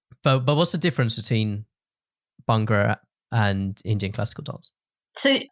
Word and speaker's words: Bhangra: It's Bhangra. It's actually like Punjabis will say it's almost like you. Imagine it starts with the letter P.